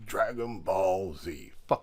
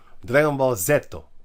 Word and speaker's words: Dragon Ball Z: you call it dragon Dragon Ball Z that name I hate this it's Dragon Ball Dragon Ball zetto so that's the name you say it how they say it b d it